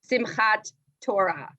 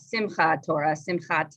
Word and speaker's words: Simchat Torah: cotton zone for example um or simchat torah it's not simcha torah torah so the base form